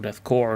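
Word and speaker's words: Korps: that shall be the death corpse of Greek or death core of Greek because I know it's pronounc pronounced core not corpse despite the fact it's spelled corpse because language is weird.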